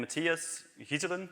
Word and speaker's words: Matthias Ghyselen: I'm Matthias Ghyselen, indeed. You pronounce it right, thanks.